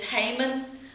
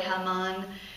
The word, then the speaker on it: Haman: Well, the bad guy in this story, which we usually pronounce it as Haman. I think there's a different pronunciation, probably Haman.